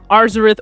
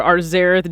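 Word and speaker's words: Arzareth: one of the two arzarith or arzerath just depends on how you choose to pronounce it i love how bold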